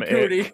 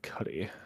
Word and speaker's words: Cudi: You said Kid Cudi. Is that how you say it? No, it's Cuddy.